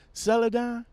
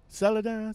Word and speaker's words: Celadon: gonna speak on celadon and yes I am pronouncing it right right celadon celadon see II do and I am pronouncing it